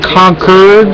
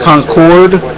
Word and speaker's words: Concord: to call Concord today it's pronounced conquered not Concord anyone the other lady the